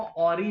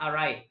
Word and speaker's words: awry: इसका प्रोनाउंसिएशन ध्यान रखना, काफी लोग इसको ऑरी बोलते हैं, बट ऑरी ये नहीं है, AWRY, वो ORRY हो सकता है, ठीक है। इसका प्रोनाउंसिएशन होता है अराई।